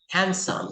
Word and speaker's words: handsome: Handsome. sandwich, handsome, Walang D. You say handsome.